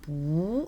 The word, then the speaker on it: 不: 원래는 아니 불자 같은 경우는 성조가 사성이라고 했었죠. 뿌라고 하지만 뒤에 사성이 올 때는 이 원래 사성이었던 뿌가 이성으로 바뀌면서 부 이렇게 발음이 된다라고 저희가 지난 시간에 배웠습니다.